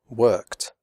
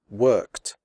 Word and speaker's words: worked: After unvoiced sounds such as k, p, f, and s, the final ed is pronounced like t, as in the word hot. The e remains silent. Here are some examples. Worked, picked, fixed, missed, stopped.